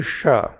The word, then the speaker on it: ष: When you calling the Sa, at the same time roll tongue back, it will be Sha.